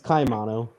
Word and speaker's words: Caimano: Is it Caimano? It's close. It's Caimano. Okay.